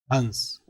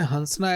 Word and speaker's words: हंस: हंस। और यह क्या है? हंसना। हंस पे क्या लगा हुआ है?